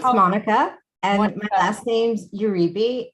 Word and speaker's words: Monica: here with how do you want me to pronounce your name monica it's monique it's monica and my last name's uribe and in spanish